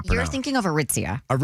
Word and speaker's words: Aritzia: I thought there's What's What's the store in the mall that I cannot pronounce? You were thinking of Aritzia.